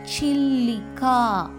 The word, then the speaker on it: சில்லிகா: சில்லிகா சி சிதம்பரத்துக்கு வர சி சில்லிகா.